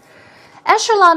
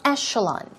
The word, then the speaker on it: echelon: Echelon, as I told you, it's E-C-H, but it's pronounced with an E-S-H. Here we go. It's echelon.